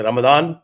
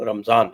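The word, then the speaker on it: رمضان: दिमा हो जाता है जैसे रमदान बोलते हैं व रमजान य रमजान हा वही स्पेलिंग से लेकिन प्रोनंसिएशन अरबिक में रमदान हो जाता है य रमजान हो जाता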